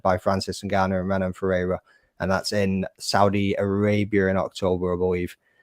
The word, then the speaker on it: Ferreira: Ferreira. Is that how you pronounce it? Ferreira.